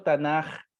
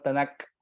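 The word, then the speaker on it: תנך: Pasa que cuando esa última letra tiene un puntito al medio, se conoce como Dagesh, ese punto, se pronuncia como una K de kilo. Pero si se la sacamos, se pronuncia como una J de José. Es por esa razón que se dice y se lee Tanaj, pero en la palabra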